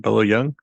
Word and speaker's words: Bolo Yeung: Bolo Yeung.